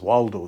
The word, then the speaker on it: Waldo: I mean, his name is Waldo, so it kind of rhymes with Osvaldo for some reason.